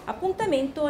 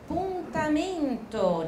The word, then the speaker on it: appuntamento: 们上一次的传单哈。Appuntamento al mare，跟你们的 shadowing 一样的，我再强调一下你们的发音，appuntamento 这个字。